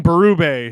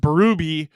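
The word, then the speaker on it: Bérubé: Jared saying, please stop saying Berube. His name is pronounced Berube, according to NHL media release in pronunciation for coaches. He is in French.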